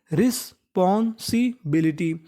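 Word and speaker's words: responsibility: आर ई एस रिस। पी ओ N pawn. S आई सी रिस्पॉन्सी। बी आई एल आई टी वाई। टी वाई को क्या पढ़ना है हमें? टी। बी आई एल आई बिली। तो पूरी मीनिंग रिस्पॉन्सिबिलिटी।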